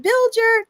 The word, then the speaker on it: Bilger: Is it Biller? Did I pronounce that?